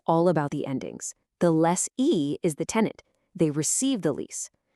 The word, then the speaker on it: lessee: Less e, less or. See, that little sound difference at the end tells you everything you need to know about who's who.